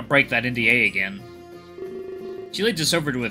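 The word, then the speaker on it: 四: The number 4 can be pronounced she.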